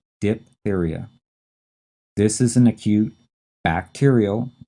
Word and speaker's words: diphtheria: tricky to spell it's d i p h there's this silent h in there and then t-h-e-r-i-a diphtheria this is an acute